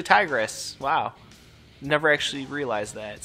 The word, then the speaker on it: Tigres: Yeah, shit, that's Tigres. I thought it was Tigers at first, but it's actually Tigres.